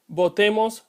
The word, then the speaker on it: botemos: The comma after bueno creates a pause, making it so the next word, botemos, is pronounced with a hard B. If there were no pause, you would pronounce the second B as a soft B.